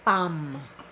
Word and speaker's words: palm: po ay ah palad pam pam sa English silent l hindi yan palm palm hindi palm sunod